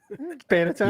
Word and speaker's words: panettone: This is the pronunciation. Panettone.